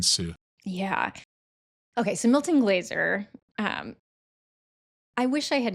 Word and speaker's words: Glaser: Is it pronounced Glaser?